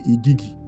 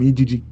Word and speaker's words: Igigi: So the whole entire war, what they classify as the war between the Anunnakis and the Igigi. I call them Igigi, but it's the Igigi. That's how they pronounce it.